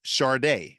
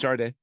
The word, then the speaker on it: Sade: Pronounced Sade. Okay, that's number 1. Sade. Pronounced Sade.